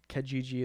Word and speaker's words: Kijiji: So I have nightmares of Adam saying Kijiji is Craigslist of Canada. It's spelled with an I. It's 3 I's. Kijiji.